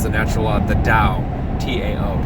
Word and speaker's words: Tao: There's an appendix in that book in which he calls the natural law the Tao, T-A-O, pronounced Tao.